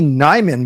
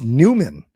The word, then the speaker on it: Nyman: Then it looks like it's Yanni Nyman, but it's Newman. Newman. Well, why don't they spell it ne?